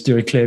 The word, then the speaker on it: Dirichlet: latent dirichlet analysis uh dirichlet if you pronounce the french way it's derek clay because he was german actually here is an interesting